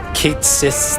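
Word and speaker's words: Cait Sith: Kate Cis theme. And yes, that is how it is pronounced according to Rebirth.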